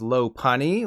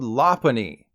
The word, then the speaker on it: Lopunny: Ball Z damn Americans you probably think Ludwig's favorite Pokemon is pronounced lopunny like someone telling a quiet joke but that didn't make too much sense the Lola Bunny equivalent for Pokemon fans is actually called lapani yeah lapani or how